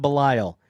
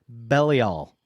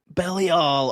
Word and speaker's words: Belial: It's not pronounced Belial. It's Belial. Belial. Oh, that's right. Belial. Which sounds all kinds of wrong to me. It does. It's like, look at that belly.